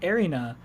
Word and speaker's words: Erina: So, for instance, like Erina, I'm not gonna say it right. Yeah. It's Erina.